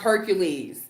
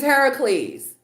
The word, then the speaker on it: Heracles: who do not know it is not pronounced hercules it is heracles i'm just saying it